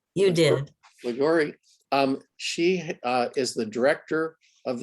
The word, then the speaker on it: Liguori: And without further ado, I'd like to introduce tonight's speaker, Liguori. Did I pronounce it right? You did. Liguri.